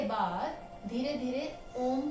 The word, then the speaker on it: ओम: तो जब ओम का उच्चारण कर रहे हैं तो ध्यान रखिए इसमें आप ओ थोड़ा सा कम बोलें और मकार जो है उसका सेकंड पार्ट है वो लंबा बोलें।